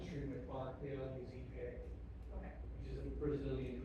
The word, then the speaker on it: ipe: those things on Streamway Park, they all use Ipe, Okay. which is a Brazilian hardwood, South American hardwood. Spelled like the, Yeah.